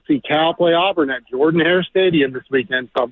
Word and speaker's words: Jordan-Hare: I'm getting on a plane this Friday to fly out to Atlanta to go see Cal play Auburn at Jordan-Hare Stadium this weekend, so I'm pretty excited about it.